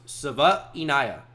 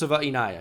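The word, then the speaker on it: Savaiinaea: I learned how to say it it it's pronounced Saia Jonas saaia it's exactly how he says it I promise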